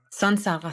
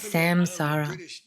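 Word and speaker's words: saṃsāra: Also das M mit einem Punkt darunter bedeutet einfach Sansara, Sansara. Sag nicht Samsara.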